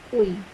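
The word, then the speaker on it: 의: Uy. Ito po yung correct spelling niya. E-U-I. Uy. Ito po yung tamang pagbigkas. Uy.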